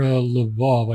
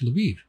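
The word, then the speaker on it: Lviv: H oh here's near laav I never learned how to pronounce it I was right by it no it's leiv what is laav LV oov I thought it was leiv or something like that what is this shit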